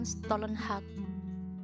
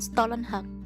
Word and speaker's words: Stålenhag: Electric State dari Simon Stålenhag, dari apa sih, seniman dari Swedia gitu. Tapi bagus banget sih, aku harus bilang nggak. Simon Stålenhag, terus aja sih kayak Stalin, tapi ininya pronunciation-nya Stolen.